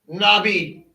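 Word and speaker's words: נביא: Nabi cuz the olive is silent in this word. This is Nabi.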